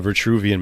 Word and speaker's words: Vitruvian: It's called the Vitruvian man, right? Is that how you pronounce it? Vitruvian, yeah.